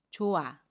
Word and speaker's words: 좋아: 발음 해요 예를 볼게요 좋아 를 보면 갇힘 히 흙과 모음 아가 만납니다 그러면 좋아 라고 발음 해요 아침 히 s 인 발음하지 않고 요 모음 아닌 그대로 발음합니다 그래서 좋아 아 라고